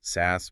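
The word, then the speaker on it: SaaS: 10x, maybe even 15x SAS platform multiple. And by the way, for anyone listening, we are pronouncing it SAS today.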